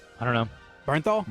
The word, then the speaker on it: Bernthal: Bernthal. Berthal. Yeah, Bernthal.